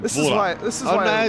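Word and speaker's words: Dvořák: This Dvorak. is why... Dvorak. Not really silent, actually, so no. it's kind of like Zuka, then, where you slightly pronounce the D before his name, but not really.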